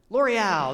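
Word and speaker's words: L'Oréal: How do you pronounce it? L'Oreal.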